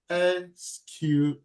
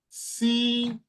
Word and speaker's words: SQL: pronounce it pronounce it SQL you can pronounce it seel you can pronounce it SQL SQL just give it any